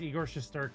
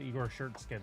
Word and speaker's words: Igor Shesterkin: It was Igor Shesterkin, and she said Igor Shirtskin.